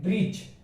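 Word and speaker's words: bridge: तो यहाँ पर क्या पढ़ेंगे, ब्रिज, ब्रिज, क्योंकि डी तो साइलेंट है ही, क्योंकि उसके जी के पहले आ रहा है डी, इसीलिए डी साइलेंट है। तो यहाँ पर ब्रिज पढ़ा जाएगा।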